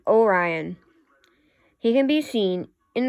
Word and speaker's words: Orion: You say it like Orion.